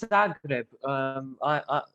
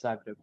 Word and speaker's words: Zagreb: It's Zagreb. Croatia's literally next to Montenegro where I live, so yeah, it's Zagreb.